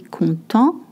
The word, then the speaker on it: content: Je suis content. Je suis contente. Je suis content if you're a man. Je suis contente if you are a woman. You don't pronounce the T if you're a man.